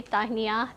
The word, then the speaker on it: Tahniah: So that's how you spell it, and the pronunciation is really straightforward. It's Tahniah. Tahniah. Okay, and after you say Tahniah to the host, Malaysians, being Malaysians, the first